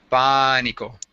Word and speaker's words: Pánico: Do you see where the accent is? Yeah, it's on the The A. accent is on the A. Pánico. No, it's when you see an accent, that is not telling you to do the A longer. It's telling you to it's sharp.